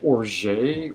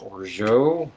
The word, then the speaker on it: orgeat: And then we need 1/2 ounce of orgeat. Or some people are pronouncing it orgeat or orgeat.